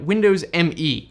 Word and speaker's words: Windows Me: We have Windows ME, officially pronounced Windows Me.